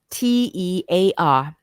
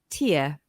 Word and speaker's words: tear: is spelled t-e-a-r now this word can be pronounced two ways the first way is TE and the second way of pronouncing it is Tia so the word te means to pull apart as in please don't tear the pages out of that book when it's pronounced tier it refers to a